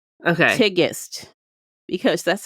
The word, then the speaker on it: Tigest: how to pronounce things and that's why I pronounced her name okay tigest because that's how she said it is she said it okay tigest and my instinct was to say tigist but it's tiest okay kadan is how you